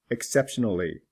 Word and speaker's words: exceptionally: Exceptional. Exceptionally. The L is pronounced.